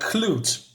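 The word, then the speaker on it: Klot: fought a being called Clute I believe that's how you say it k l o t uh this is not clue by the way it's just minor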